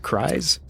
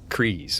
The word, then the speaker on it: Kryze: Is that how you pronounce it? Kryze? Kryze, okay.